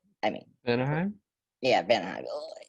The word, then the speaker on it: Vanaheim: his home planet, and his home planet is so weird to pronounce I mean, Anaheim? yeah, Vanaheim.